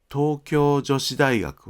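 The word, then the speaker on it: 東京女子大学: ですから、東京女子大学は一つの単語のように発音してください。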